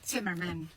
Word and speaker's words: Zimmermann: Ay it probably is a in German po ang pronunciation ng Zimmerman is simmerman.